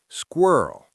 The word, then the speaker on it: squirrel: Now, this word is notoriously difficult to pronounce. The squa cluster at the beginning can be hard.